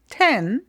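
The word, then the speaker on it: zehn: And this Z is really like T. It's like if you had a T and then S afterwards. And you have to hear that T.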